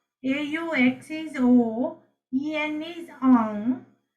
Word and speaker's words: au: AUX is O. EN is on. AU is again O.